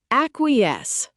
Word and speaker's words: acquiesce: Acquiesce, pronounced ac-qui-esce.